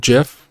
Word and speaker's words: GIF: I've personally created was animated gif or GIF however you want to pronounce it I made a ton